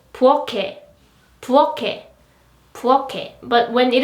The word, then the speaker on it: 부엌: 부엌, 부엌, 부엌. Again, according to the ending sound rule, the pronunciation is 부엌, right? Not 부엌, but 부엌, 부엌.